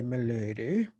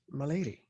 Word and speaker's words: Melady: your last name because i keep wanting to say melody and that's not how you say it get out of town